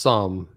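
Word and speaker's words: Xumm: I don't think ZUM is not safe. No, I think ZUM is, I like the ZUM, it's actually pronounced some with an S more than a Z, but ZUM is it's a good wallet.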